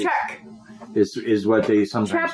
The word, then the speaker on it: Czech: e czechoslovakia yes yes also the czech republic is check this is what they